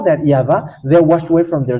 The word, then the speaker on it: YAHVAH: of tat which says that we call it yava and how that's how we read it in heaven of heavens yava and those who call that yava they washed away from their sin and they